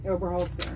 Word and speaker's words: Oberholzer: to spell it but it's sounded like hobaholtzer oberholzer yeah is in boy e-r-h-o-l and first